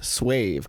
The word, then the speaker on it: suave: It's pronounced suave. Me when the ESL streamer pronounces one word wrong per 5 streams. It's good to know though. Suave. Suave.